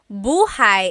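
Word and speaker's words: buhay: Shir said I always make a mistake with bah and so bahigh is house buhai is your life.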